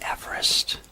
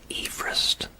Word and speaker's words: Everest: the early 1800s M Everest is pronounced as Everest not Everest as is named after George Everest we say cheese before